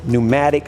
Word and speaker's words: pneumatic: So, Teraflex just came out with their new pneumatic sway bar disconnect. The P is silent.